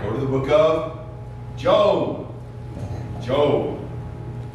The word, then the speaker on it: Job: This one Sunday school kid of mine used to call it Job. Job. There's a whole book in the Bible about jobs. I said, nope, it's actually pronounced Job.